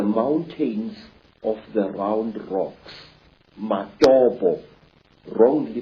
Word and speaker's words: Matobo: And one of these parts of Africa, sir, is a remarkable place called the Mountains of the Round Rocks, Matobo, wrongly pronounced Matopo, in Zimbabwe.